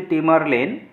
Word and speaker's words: Tamerlane: ছিল টেমারলেন যার নাম ছিল টেমারলেন একচুয়ালি ইংলিশে উচ্চারণটা হচ্ছে টেমারলেন বাট বাংলায় আমাদের সেটি আমরা অলরেডি পড়েছি হিস্ট্রিতে